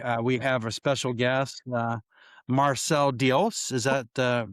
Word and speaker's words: Marcel Diels: We have a special guest, Marcel Diels. Is that the right That is pronunciation?